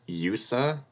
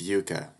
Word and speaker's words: Yuka: I'm sorry, how did you pronounce that? Yusa? It's Yuka.